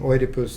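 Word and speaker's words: Οἰδίπους: I'm pronouncing oidus the way it is in Greek um for a reason that uh will come clear in just a minute.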